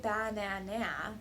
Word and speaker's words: banana: it sounds like banana in this word only the middle syllable is stressed nah the other syllables